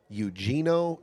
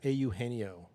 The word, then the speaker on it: Eugenio: That's auheno. Excuse me. Au heno. Au heno. That's how you say it in. Yeah. Au heno. Yeah. Eugene in in Spanish.